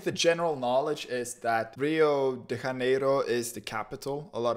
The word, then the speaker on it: Rio de Janeiro: that's right it's pronounced rio de janeiro rio de janeiro get it right we're not in mexico this is portuguese not spanish this was done in